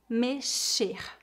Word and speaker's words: mexer: pronúncia do verbo com a letra x nesta palavra é pronunciada como as letras s h em inglês mexer mexer outra informação importante